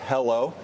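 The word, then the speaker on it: HELO: eded Equity laded overlay the ticker wait for it is h e l pronounced hello uh so we've got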